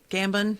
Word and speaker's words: Gambon: the grandfather um yeah gammon gambin is how you say his name michael gambon he played